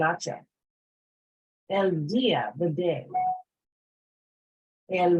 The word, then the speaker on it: hacha: El hacha, the axe. Okay, remember that H is silent, el hacha.